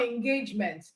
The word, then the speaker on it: engagement: The same for engagement. Two syllable word, engage, which can also be a verb, engage. All right. So the stress is on gauge.